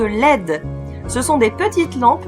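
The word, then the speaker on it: LED: les del diode électroluminescente plus connus selon la prononciation anglais sous le nom de l'aide ce sont des petites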